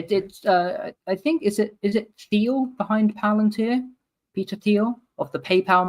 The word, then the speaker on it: Palantir: He said plant, am I pronouncing? You can read that too, right? Palantir. Okay. Palantir.